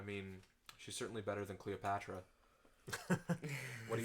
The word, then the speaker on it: Cleopatra: He says Cleopatra, Patra. Her name is 4 syllables. Cleopatra. Yeah, 4 syllables, not 5.